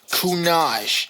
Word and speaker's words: Kunage: And for anyone who's watching this at home, Kunage, it's like Minaj, but spelled differently.